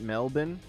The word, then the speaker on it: Melbourne: Otherwise, I'll just do it in um, we pronounce it Melbourne. Hey, thanks for telling us. In American English, it looks like Melbourne, but I totally understand.